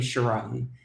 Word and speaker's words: Chiron: later so thanks and I pronounced my name Chiron and you wouldn't have known that all right sorry about